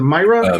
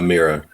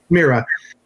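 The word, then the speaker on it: Mira Furlan: Is it Myra? Mira. Mira.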